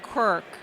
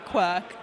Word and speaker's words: Quirk: It's Quirk, not Quirk, like I say it.